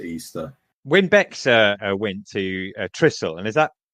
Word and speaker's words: Trysil: When Bex went to Trysil, and is that pronunciation correct?